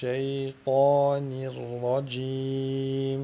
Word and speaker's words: الشيطان: Parce qu'il y a une lettre, pour faire khama, il y a une lettre emphatique qui est ta, qui peut nous introduire en erreur et nous faire prononcer shin ou faire khama. Minash shaytanir rajim.